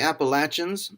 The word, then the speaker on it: Appalachian: an enormous number of miles he crossed the Appalachian and yes that's how you pronounce it 66 times in order to reach